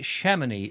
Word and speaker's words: Chamonix: well without one oh you don't pronounce the x in chamonix is it shamany is it like shamany